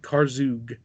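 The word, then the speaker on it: Karzoug: a short loop of car zhuge which is how he's supposed to be pronounced I was done before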